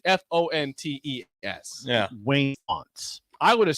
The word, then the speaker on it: Wayne Fontes: It's not Fountains of Wayne. Yeah, it's Wayne Fonts. Graham. Hey, Corey. Okay, Corey's gone. It looks like Fontes. It's Fontes. Yeah. Wayne Fonts.